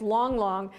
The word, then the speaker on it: Lang Lang: is Long Long folks it's spelled why it's not long Lang Lang but it's long long and oh my gosh